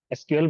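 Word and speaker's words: SQL: এটার গুরুত্বটা অনেকে বুঝেন এস কিউএল বা সিকুয়েল আপনি যেভাবে উচ্চারণ করেন স্ট্রাকচার কোয়েরি ল্যাঙ্গুয়েজ ডাটাবেজ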